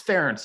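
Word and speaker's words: Ferentz: he's like uh yeah it's ference you know rhymes with clarence or parents but whatever we'll just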